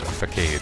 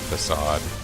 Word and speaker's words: facade: Because the word is pronounced facade, but if you had read it, of course you would think it's facade. It's got a perfectly English-looking, what am I trying to say? It seems like it should be an English word pronounced facade, because you're used to words like arcade.